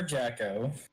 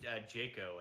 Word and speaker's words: Jaco: Well, I'll let you make one because they are Jacko. Or Jacko. How do you, Jeffy think it's first, Jocko. how do you pronounce it? Jaco, actually.